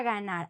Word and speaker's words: ganar: It's like, imagine the word in English, the English word good. No, when you say good. So when you say good, think about the g in Spanish.